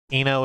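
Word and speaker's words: I-No: yeah that makes sense Eno is pronounced like her namesake Brian Eno right she would be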